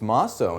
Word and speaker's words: Mosso: So, remind me, is Mosso or Mosso? It's Mosso, and thank you for asking. Mosso.